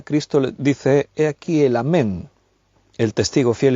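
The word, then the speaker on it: אָמֵן: dice es el amen esta palabra amén es de origen hebreo en hebreo exactamente la pronunciación varía un poquito de como nosotros lo decimos sería ammán escrito con el lugar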